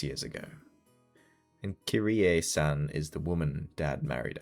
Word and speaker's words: Kyrie: I I mean like I would say I would say Yeah, like I think it's pronounced kira technically.